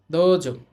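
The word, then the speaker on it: どうぞ: পরের শব্দ হচ্ছে দেখেন দ ও ধনির পর আছে উচ্চারণ হবে না দজ তাহলে কি হবে দোজ দজ দোজ এটার অর্থ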